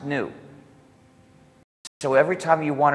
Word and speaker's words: GNU: Because according to the dictionary, the G is silent and it's pronounced new.